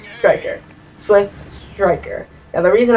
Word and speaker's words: Striker: striker is spelled wrong a lot of people say stricker it's supposed to be striker swift striker now the